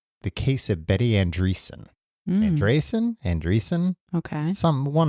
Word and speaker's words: Andreasson: it how you want I'm going to say andrees okay cuz I think that's right so Betty andrees was